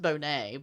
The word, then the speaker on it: Boney: One of the samples belonged to a former felon, Charles Bonnet, which is spelled Boney, Boney, which I think is funny, but it's pronounced Bonnet, but I kind of want to just call him Boney because...